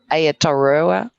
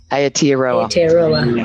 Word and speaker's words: Aotearoa: Beautiful Claire from, it's terrible, I can't say Aotearoa. I'm not used to saying that. That's so bad. That was a terrible pronunciation. Can you say it for me, Claire? Aotearoa.